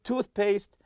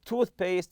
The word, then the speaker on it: toothpaste: packed everything except your toothpaste and toothbrush so toothpaste and toothbrush are compound nouns and we stress the part of the tooth you say toothpaste toothpaste or toothbrush lastly here I'll